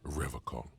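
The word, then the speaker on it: Revachol: pronounces Revacol with a hard K, unlike serious question time.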